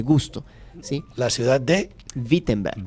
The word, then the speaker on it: Wittenberg: Sí, la ciudad de Vittenenberg. Vittenenberg se escribe con W, pero se dice así, es como Volkswagen. Si se escribe Volkswagen, se dice así, es como una V con F.